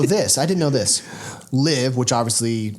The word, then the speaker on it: LIV: LIV, which obviously how you pronounce it rhymes with give, is actually the Roman.